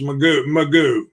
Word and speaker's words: McGough: I saw it pronounced Magoo. Magoo. Oh boy, that's interesting. It was Magoo, Alex Magoo.